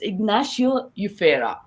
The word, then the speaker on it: Ignacio Yufera: fact i was struggling to understand how to pronounce our guest name today so it's ignacio ufera an amazing photographer his works has been published